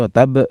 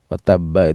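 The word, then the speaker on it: وَتَبَّ: Enggak begitu bacanya ditahan sebentar. Watab karena watabba itu ada dua ba. Sehingga untuk mengqalqalkannya harus ditahan dulu karena membaca ba yang pertama, ba yang kedua baru diqqalqalahkan. Nah, kadang-kadang enggak nerima dia,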